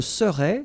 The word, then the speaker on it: serais: Je serais, same thing here, final S not pronounced.